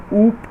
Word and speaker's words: OOP: ठीक है, बेसिकली इसको जो प्रोनाउंस हम करेंगे वो ऊप के नाम से करेंगे, OOP।